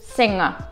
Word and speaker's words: sing: А петь будет sing.